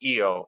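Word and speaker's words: ʻio: uh favorite bird is the eo pronounced eo or hawaiian hawk uh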